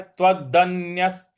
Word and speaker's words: त्वदन्यः: और य के बाद जो विसर्ग है उसके आगे स है, तो इन दोनों को आपस में जोड़ देंगे। तो जो स है उसी का उच्चारण हमको यहाँ पे विसर्ग का देना है। तो त्वदन्यस। त्वदन्यस इस प्रकार से इसका उच्चारण होगा।